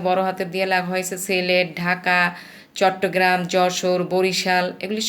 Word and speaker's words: Sylhet: যখন আমরা লিখতে যাব তখন এইভাবে বলবো, SYLHET, হেড, সিলহেট। কিন্তু বাংলায় যখন আমরা সুন্দর করে বলবো বা ইংরেজিতে যখন বলবো তখন সিলেট বলবো, উচ্চারণ করব সিলেট, কিন্তু লেখার সময় সিলহেট।